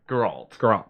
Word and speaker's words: Geralt: released for Xbox One and does come with Geralt. I never know how to say his name. Geralt.